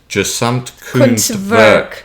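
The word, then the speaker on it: Gesamtkunstwerk: Yes, I've been trying to work on the pronunciation, so it's gesamt Kunstwerk.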